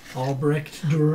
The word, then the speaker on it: Albrecht Dürer: Albrecht Dürer.